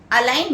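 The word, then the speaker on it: align: जी so let's begin अलाइन ए एल आई जी N where the letter ji is silent अलाइन means to पुट टू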